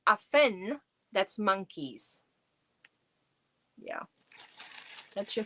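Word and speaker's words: Affen: If you add an n at the end, if you say aphen, that's monkeys.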